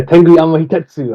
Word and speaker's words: Tenguyama Hitetsu: Yeah, Tengu Yama Hitetsu.